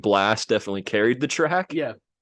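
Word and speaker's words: Blxst: Blast.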